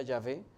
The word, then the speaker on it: Yahvé: Quiere decir Yahvé salva. Eso es Yeshua. Yeshua. El tetragramatón YHWH que se pronuncia Yahvé en nuestro, bueno, ¿qué digo?